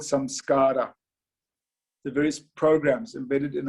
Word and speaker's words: samskara: These programs in Sanskrit are called samskara. The various programs embedded in our mind are called samskaras. It's a lovely word. If you look at it phonetically from an English speaking point of view, samskars.